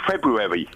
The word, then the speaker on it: February: day there's a d I love the way you go February I'm say I'm saying the first hour no one says the first hour in February no imagine my favorite